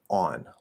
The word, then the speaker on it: on: different sounds here and if i remember correctly on should be the aw that backwards c in ipa and so it would be like on on on something like that um if you do have the cop merger then remember ah and ah become one sound ah and it's just on so that's the way i pronounce it nice and easy that's